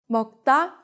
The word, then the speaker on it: 먹다: No matter what the following initial is, if it can be doubled, it will be. 먹다, to eat, 학생, student, 갑자기, suddenly.